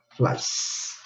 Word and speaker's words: flies: Entonces sería flies. Igual no se pronuncia la E, pero tiene que estar ahí.